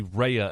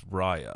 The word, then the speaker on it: Raya: the last dragon r it feels like it should be reya and the last dragon but the movie says it's raya right and i don't